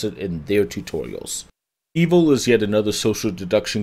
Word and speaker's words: Eville: And like, Eville, making me regret the social part of social deduction, and by the way, that is how they pronounce it in their tutorials. Eville is yet another social deduction game similar to